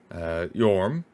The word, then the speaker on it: Yhorm: The spelling Yhorm may help with the pronunciation, as the letter J is usually pronounced in Old Norse as a Y.